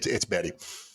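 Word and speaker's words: Bette: featured the worldwide hit bet davis eyes this became the bet betty no that's the name it's betty but it's spelled that way it is that's an old school betty but it's betty davis yes i take issue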